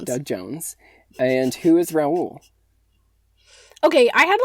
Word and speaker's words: Raoul: the other versions also i always say his name ral cause that's how they say it in the movie for some reason which makes no sense like it's raul that's like how the name is said but everyone in the